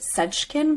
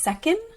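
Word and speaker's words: Seckin: treating endometriosis by tamer think you pronounce it sejkin but it's second okay um but i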